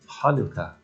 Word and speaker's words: Hanukkah: game to play the name hanukkah can be a challenge especially in an american vernacular because the sound isn't there so when you try to spell it some people spell it scientifically where h stands for the sound but it's not it's actually ha so if you're being very careful it's hanukkah but that's even hard